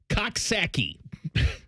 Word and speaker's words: Coxsackie: pronouncing I will then tell me how to say this c x s a c k i e saaki yeah you're okay all